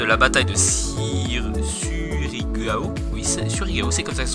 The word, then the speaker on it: Surigao: Oui, Surigao, c'est comme ça que ça se prononce.